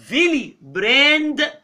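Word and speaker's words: Willebrand: خلي بالك اللي درس دويتش الدبليو ينطق اف، يتنطق في، انا اسف. فن فيلي براند فاكتور هو ده الراجل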